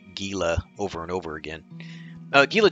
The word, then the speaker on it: Gila: both rainbow trout and gila trout i think the correct pronunciation may be gila with an h but it's spelled with a g so you'll hear me say gila over and over again